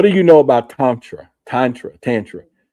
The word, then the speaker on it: tantra: Tantra tantra?" The answer was it rhymes with mantra.